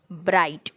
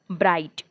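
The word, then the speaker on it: bright: आपण या ठिकाणी पाहूया सर्वप्रथम जेव्हा पहिलं डीएच सायलेंट आहे तेव्हा काय होणार आहे ब्राईट ब्राईट ब्राईट फाईट फाईट लाईट माईट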